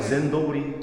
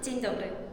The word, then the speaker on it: Dzień dobry: 제 발음 맞아요? 거의 한 99%예요. 젠도브리? 그거는 조금 벗어났어요. 그거는 조금 멀어졌어요. 원어민 발음으로 한 번만 들려주실 수 있어요? 찐더블.